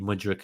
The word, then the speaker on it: Mudryk: So Christopher also every time I hear you pronounce his name, I think we're signing Luka Modric. Oh yeah, Modric. Modric. No, Mudryk.